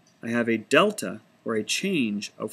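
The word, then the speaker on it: Δ: And this can be rewritten with these triangle symbols pronounced delta.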